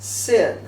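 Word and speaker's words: שׂ: If the dot is on the left side of the letter, it's pronounced sin.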